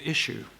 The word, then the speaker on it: Issuu: available free on a website called Issue, which isn't spelled issue like we spell it, but ISSW, ISSUU.